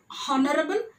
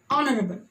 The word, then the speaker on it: honorable: And even same thing with the, it's not honorable, it is honorable.